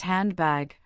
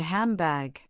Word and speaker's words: handbag: You might expect it to be pronounced handbag, but most people say handbag. The N sound changes to an M sound because the following sound is a B which is made with the lips just like M.